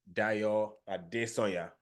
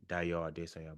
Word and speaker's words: Dayo Adesonya: My name is Dayo Adesonya. That's how non-Yoruba people will say my name, Dayo Adesonya, but my name is Dayo Adesonya.